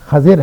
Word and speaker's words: خضر: کے قصے کا تھا۔ خضر جس کا درست تلفظ خضر ہے عربی کے اعتبار سے، ہم اردو میں اس کو خضر کہہ دیتے ہیں، تو خضر اور موسیٰ